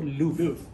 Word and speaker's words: Louvre: Bacanya tuh Louvre.